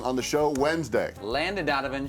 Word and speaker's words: Landon Donovan: on the show Wednesday Landon Donovan she called him Langdon Donovan who was it bothered